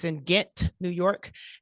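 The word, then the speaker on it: Ghent: the Capital District of New York it's in get New York it's not spelled Gantt it's spelled g-h-e-n-t so I learned that while I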